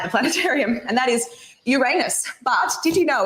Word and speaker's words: Uranus: kids here at the planetarium and that is Uranus but did you know it's actually pronounced Uranus which I also think is pretty funny how